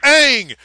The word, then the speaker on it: Aang: keep one on um it's Aang the show told you wrong yes they call him God in the beginning of the movie and then like any